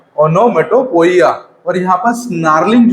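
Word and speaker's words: onomatopoeia: इसके बाद अगला जो डिवाइस है हमारा थोड़ा सा डिफिकल्ट है, उसका प्रोनाउंसिएशन आप ध्यान से सुनिएगा, ओनोमेटोपोइया, है ना। क्या इसका प्रोनाउंसिएशन है, ओनोमेटोपोइया। पोइया।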